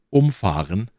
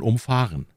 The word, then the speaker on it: umfahren: ist genau derselbe Satz es geht nur um die Betonung und das ist in diesem Fall sogar genau das Gegenteil oder wie man oft sagt umfahren ist das Gegenteil von umfahren ähnlich verhält es sich